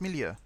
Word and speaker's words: milieu: No, it's Milieu. It's the, because I'm thinking of the Millau Viaduct, which is AU, and this is IEU, so it's Milieu.